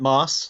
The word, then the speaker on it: Maass: we have now I want to say mass but I notice it's M double a SS how do you pronounce your surname I generally pronounce it mass like the green stuff on Iraq okay your pronunciation was